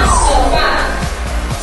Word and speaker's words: sofá: Por ejemplo, la palabra sofá. Sofá tiene dos sílabas. La sílaba que se pronuncia con mayor fuerza de voz es A. Recae su mayor fuerza de voz entonces en la última sílaba.